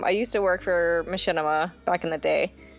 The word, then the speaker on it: Machinima: used to work for Machinima back in the day is that how that's pronounced I've never known how to pronounce that it is it is machinima fun fun fact I